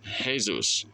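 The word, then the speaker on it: Jesús: We spell it exactly the same, it's just pronounced different cuz J in Spanish is H. So we pronounce Jesus like Jesus.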